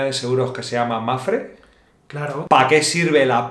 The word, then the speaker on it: Mapfre: seguros que se llama Mafre? Claro, ¿Para qué sirve la P de Mafre? paná, Pana. claro, porque no se pronuncia Está ahí pana. y silent. ¿Y qué es Mafre.